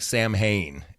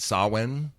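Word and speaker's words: Samhain: It looks like Sam Hayne, how it's spelled. S A M H I H A I N. But it's really pronounced sawin.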